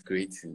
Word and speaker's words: Kcreietin: Am I getting the pronunciation right? Yeah, it's Kcreietin, yeah.